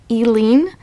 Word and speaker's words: Eileen: over Eileen waros um I've also heard her name pronounced elen or just waros but I'm going to go with Eileen cuz that's my aunt's name and it's best for me to read it that way I'm not saying my